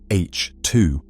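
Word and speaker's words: H II: These regions, known as H2 regions, pronounced H2, mark the nurseries where stars have just formed.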